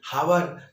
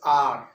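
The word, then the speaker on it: hour: अब मैं बात करूं आर, एच ओ यू आर, कई सारे उसको क्या पढ़ते हैं, हावर। इट इज नॉट हावर, इट्स आर।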